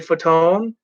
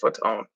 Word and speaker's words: Fatone: bateman was in the movie ariel winter joey fatone i was that close to saying fat one i really was i really was but it's pronounced foot's own will polter who was in where the millers